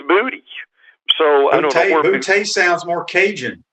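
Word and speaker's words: Boutte: booty yeah so it's it's actually not bootay but it's booty so i don't know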